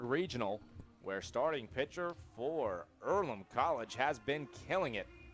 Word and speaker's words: Earlham: do is it ireland is it pronounced earlham it's earlham and it's a place for amateur farmers athletes